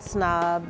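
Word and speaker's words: PSNOB: person who made the Snob handbag. So it's spelled P-S-N-O-B, the P is silent.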